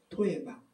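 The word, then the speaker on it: תועבה: 우리가 창세기 나눌 때 그렇게 많이 요셉의 기사에서 다뤘던 토에바. 우리말이랑 비슷하죠. 너무 우리가 약한 게 들어가면 토 나오죠. 발음도 비슷해요. 토에바.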